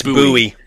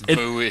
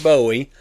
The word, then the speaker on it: Bowie: And they pronounce it buoy. They don't pronounce it Bowie.